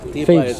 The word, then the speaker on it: Thebes: And the English speakers, they say Thebes. TH, they pronounce it Thebes, so they say Thebes.